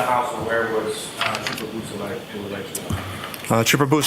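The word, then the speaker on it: Beausoleil: Could you say that name again and spell it for us, Yes, please? sir. It's Trooper Jason Bousselet.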